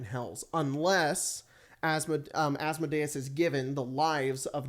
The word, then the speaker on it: Asmodeus: I almost said the not correct way to say his name, Asmodeus, and to help their business because they have like a business in Waterdeep.